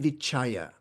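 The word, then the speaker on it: vicāra: accompanied by vitarka and vichaya. So it's accompanied by applied and sustained thought. So we've talked about vitarka and vichaya before, and that's, by the way, the Sanskrit pronunciation, because I'm used to the Sanskrit pronunciation.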